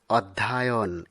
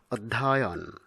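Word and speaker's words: অধ্যয়ন: এরপরে রয়েছে অধ্যায়ন। অনেক সময় আমরা অধ্যায়ন এরকম উচ্চারণ করে থাকি। কিন্তু সঠিক উচ্চারণ হবে অধ্যায়ন।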